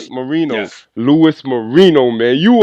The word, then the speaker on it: Marino: Marino, I'm pronouncing the last name right? Yes, Marino, yes.